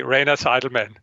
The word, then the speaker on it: Rainer Zitelmann: and please help with you with your name it is rayner's Edelman is that right yes the pronunciation in the United States it's this way Rana Seidelman it's different but Ryan aside man it's okay you're very forgiving thank